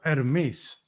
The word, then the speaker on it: Hermes: Herr Hightower, your knowledge of the ancient Greek deity Hermes, or Hermes, as it's pronounced in Greek.